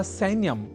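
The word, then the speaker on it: सैन्यम्: सैन्य या सैन्यम इस शब्द में ऐ अक्षर का है प्रयोग और आप जान ही चुके हैं कि सैन्य या सैन्यम में ऐ इस अक्षर का शुद्ध उच्चारण करना होता है आवश्यक अर्थात सैन्यम को सैन्यम इस रूप में हमें नहीं उच्चारित करना है क्योंकि संस्कृत एक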